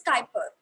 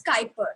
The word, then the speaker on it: Kuiper: call it as the kuiper belt it is pronounced as skyper although the spelling is u i p e r but we pronounce it as skyper so it's the kuiper belt okay yeah so